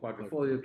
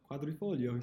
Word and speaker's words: Quadrifoglio: The Alfa Stelvio Quadrifoglio came in like 6th or 7th. They're great. They totally work. Yeah. He pronounces it correctly. What? Quadrifoglio.